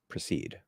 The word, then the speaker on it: proceed: So they can both reduce to a schwa, proceed. So how should I proceed? Or what precedes that? Exactly the same.